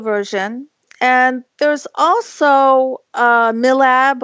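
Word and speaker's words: MILAB: and there is also mill AB or my lab which you know about right I pronounced it my lab and I also have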